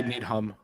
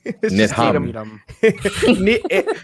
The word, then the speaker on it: Needham: Yeah, and I then you say Needham. Yeah, you pronounce the H. Needham.